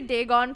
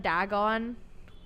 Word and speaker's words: Dagon: whole time uh okay I'm gonna say day gone from now on instead of Dagon even though that's exactly